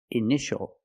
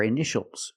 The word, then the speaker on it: initial: And this word, initial or initials, more than one. We see T-I-A together, so the T is pronounced sh, sh. Initial.